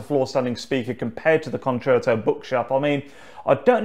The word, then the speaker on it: concerto: It's not concerto, it's concerto.